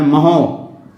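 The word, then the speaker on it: mho: कैसे लिखा जाता है, इसको बिल्कुल अपोजिट कर दिया जाता है स्पेलिंग को, तो इसको पढ़ते हैं महो, ओम इनवर्स, या इसको हम लोग क्या कहते हैं, महो भी लिखते हैं।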